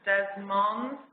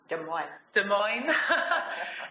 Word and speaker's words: Des Moines: which is based in des moines des moines it's hard to pronounce it it's the french name in iowa and which